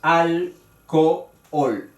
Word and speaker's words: alcohol: En esta palabra hay 2 vocales, la misma vocal, la O, separada por la H. Pero la H, como es muda, se considera que las 2 vocales están juntas en la palabra, suenan juntas en la palabra, pero evidentemente son un hiato porque son fuertes. Y ahí está alcohol, 3 sílabas.